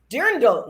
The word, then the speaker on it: Dirndl: Dirndl? Dirndl, yes.